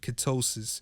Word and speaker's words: ketosis: The keto diet is a highfat lowcarb diet that aims to put the body into a state of ketosis. Ketosis rhymes with psychosis.